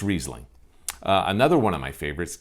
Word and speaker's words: Riesling: the actual wine itself so it's Riesling not Riesling I guess that's gonna